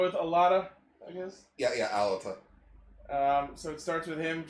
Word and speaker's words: Alata: Yeah, Alata.